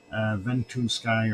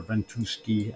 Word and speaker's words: Ventusky: Ventusky or Ventuski, whichever you wish to pronounce it as.